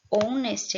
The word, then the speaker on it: honest: Novamente, o honest aqui começa com H, mas esse H ele é mudo, não é? Ele tem o som de vogal.